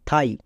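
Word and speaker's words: thigh: আই জি এইচ এখানেও আই এর পরে জি এইচ থাকার জন্য জি এইচ সাইলেন্ট মানে উচ্চারণ হবে না তাহলে টি এইচ আই থাই বুঝতে পারলা আই এর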